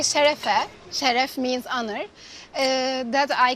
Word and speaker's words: şerefe: We say şerefe.